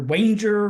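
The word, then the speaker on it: Wanger: was uh Walter Walter wer rhymes with danger great figure one wonderful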